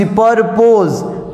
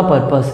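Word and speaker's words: purpose: है लेकिन मतलब लिखता पी यू are piece परपोज होता परपस है ठीक है अब आप लोग सोच रहे होंगे कि परपोज का स्पेलिंग क्या होता ठीक है सर एक्चुअल में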